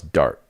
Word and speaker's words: Dart: Thomas Dart rhymes with fart.